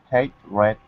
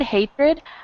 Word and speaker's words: hatred: with a T, but a lot of times we pronounce it as if it had a CH.